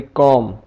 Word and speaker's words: comb: तो अगर बी आ जाए एम के बाद, जैसे लिखा हुआ है COMB, तो यहां पे बी साइलेंट हो जाएगा, इसे हम पढ़ेंगे कॉम, थम, लैम, बॉम।